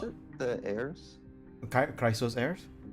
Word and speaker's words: Chrysos Heirs: How do you pronounce it? The heirs? Chrysos heirs? Chrysos heirs, thank you.